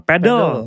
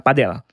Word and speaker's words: padel: Nah beberapa kan dikoreksi kan ee padel padel padle. Nah, yang kayak gitu-gitu kan mungkin kalau di dalam bahasa Inggris tuh ada. Cuma kalau misalnya sebenarnya pengucapan pelafalan itu adalah padel, padel, padel.